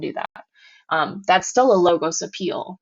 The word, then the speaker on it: logos: And then the last type of appeal is a logos appeal. And a logos appeal is going to be, sounds like the word logic, right? Logos, logic.